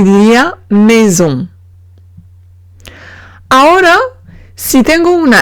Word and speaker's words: maison: Ahora, si tengo una S entre dos vocales, en ese caso se pronuncia como la Z en francés.